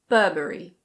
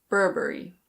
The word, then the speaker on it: Burberry: This one is a British label and in British English it's pronounced Burberry. Burberry. In American English you pronounce the first R so it's Burberry. Burberry.